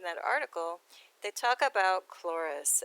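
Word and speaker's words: Chloris: a continuation in that article they talk about clorus it's spelled c-h-l-o-r-i-s as being the greek goddess of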